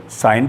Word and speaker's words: sign: तो साइलेंट जी एन से पहले, अगर किसी शब्द में एन से पहले जी लिखा हो तो उसको बोला या पढ़ा नहीं जाता। SIGN तो इसे हम सिग्न ना पढ़कर साइन पढ़ेंगे, इसे ASSIGN को असाइन पढ़ेंगे।